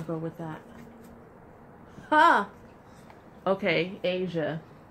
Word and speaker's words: Aja: with that ah okay Asia Asia which is how you say my name well my how you spell my name on my birth certificate aja aja okay and this has